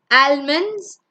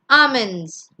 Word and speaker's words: almonds: The next one is not almonds, it's almonds.